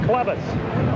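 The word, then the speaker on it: Chlebus: Joe Clevis, C-H-L-E-B-U-S, pronounced Clevis, will stand inside the 5-yard line to punt it away.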